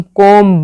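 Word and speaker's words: comb: जो silent B वाले वो बता रही हूँ, थंब, डम, क्लाइम, डेप, टोम, कोम, बोम, ठीक है, प्लम्बर, इनमें क्या है, बी साइलेंट है।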